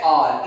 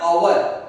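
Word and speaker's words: hour: यहां पे लिखा है हमने R, जिसको हम प्रोनाउंस करते हैं R. इट इज नॉट आवर, इट इज R.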